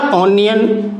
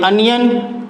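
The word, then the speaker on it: onion: Same इसी प्रकार ऑनियन, sorry अनियन, अनियन का भी फर्स्ट लेटर क्या है? ओ है, और इसका प्रोनाउंसिएशन क्या है? अ।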